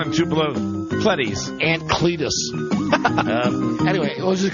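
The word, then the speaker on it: Clettes: do you spell it c l e TT esett lettuce lettuce like lettuce with a would think you know down and two below cles ant Cletus anyway we'll just call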